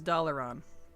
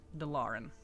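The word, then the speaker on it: Dalaran: absolutely fun yes but they say it in game as dollon not delen but you know doing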